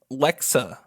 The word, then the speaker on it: Alexa: episode I think that most of the commercials annunciated like LexA that's how they say it they don't say that